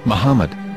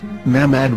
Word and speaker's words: מחמד: Muslim prophet, or as Mamad with no A after the H. According to Ben Yehuda's Hebrew English Dictionary, it is correctly pronounced as Muhammad, not Mamad.